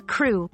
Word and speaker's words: krewe: what a crew is a crew pronounced the same as crew is an organization that